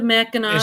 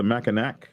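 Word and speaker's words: Mackinac: The Meno Bridge. Yeah, the Meno. It connects the trolls to the Yupers. The Meno. Uh, but the C is silent.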